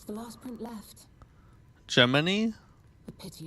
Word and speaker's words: Gemini: Geminy. The pity it's damaged like Germany cricket. A memory of me with my two apprentices. Geminy, huh?